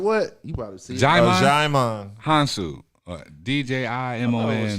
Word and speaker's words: Djimon: Jaimon Jaimon.